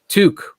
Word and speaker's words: toque: toque. One syllable.